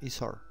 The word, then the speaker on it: iSword: Y ya van a ver ustedes en la aplicación, que se llama Isor o Isword, así se pronuncia, ¿no? Isor.